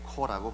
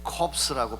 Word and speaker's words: corps: 혹은 머린코 해병대라고 하듯이 이 사람들도 TFA Corps라고 부릅니다. CORPS. 이 corps라고 발음하면 안 됩니다. 그러면 송장이 돼요. Peace Corps라고 해야 됩니다. Corps.